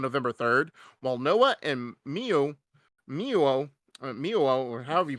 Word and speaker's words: Mio: You want me to tell you how it's said? What? Miu. No, O? What? Yeah, it's silent, bro. It's a silent Okay. O. You have never heard of a silent O?